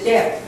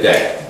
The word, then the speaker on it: debt: With the word debt, the B is silent, basically. So what you're saying is pay the debt. You're not bet or something like that. It's strictly pay the debt.